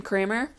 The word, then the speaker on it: Kramer: a newer tool and also happens to rhyme with my last name Kramer um just pointing that